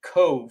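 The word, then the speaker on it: Cobh: It's spelled C O L B H, but it's pronounced Cove.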